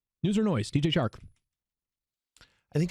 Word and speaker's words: Chark: I think it's Chark still. Wasn't it Shark Week recently? Anyways. Yes. Spelled with a C. Sounds like an S.